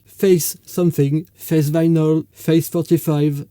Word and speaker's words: face: Each playlist is called Face Something, Face Vinyl, Face 45, and so on. Face is pronounced face in French, and face in that